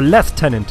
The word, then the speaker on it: lieutenant: just lost one more Lieutenant all right let's one more Lieutenant how many lieutenants did they have or left tenant if you technically want to pronounce it properly okay all you handsome